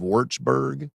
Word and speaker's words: Würzburg: Then forgive me if I pronounce this wrong. Julius Maximilians University of Würzburg.